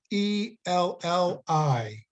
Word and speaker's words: Ciancarelli: I mean, it's not the Italian pronunciation, but anyway, it's Ciancarelli.